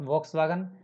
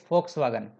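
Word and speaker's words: Volkswagen: फॉक्सवैगन, फॉक्सवैगन, कुछ लोग इसको वॉक्सवैगन कहते हैं बट इट्स नॉट वॉक्सवैगन, इट्स फॉक्सवैगन.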